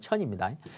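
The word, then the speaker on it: 称: 또 이 천미, 이 발음이 청이 아니고 이때는 천입니다.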